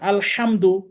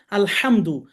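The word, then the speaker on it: الحمد: আলহামদু আচ্ছা আমরা এই শব্দটা খুব বেশি ইউজ করে থাকি আলহামদু আমরা একটু চেষ্টা করব প্রাথমিক অবস্থায় একটু খেয়াল করে করে বলতে হবে হা অক্ষরের উচ্চারণটা সঠিক করতে হবে আলহামদু আপনি যদি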